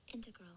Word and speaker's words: integral: up to the microphone integral it's kind of the same thing I just emphasize the E now now that now